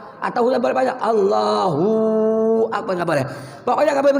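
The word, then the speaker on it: الله أكبر: Allahu Akbar. Ini minimal 2 harkat. Allahu Akbar. Yang pendek boleh, panjang nggak boleh.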